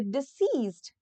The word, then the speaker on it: deceased: Example, it is not proper to speak ill of the deceased. So this is disease and this is disease. So there is slight difference between the pronunciation also. This is deceased, this is diseased.